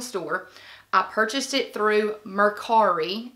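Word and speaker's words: Mercari: I purchased it through merari I think that's how you pronounce it m e r c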